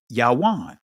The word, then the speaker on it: Yavan: The ancient Hebrew pronunciation of it is Yawwan.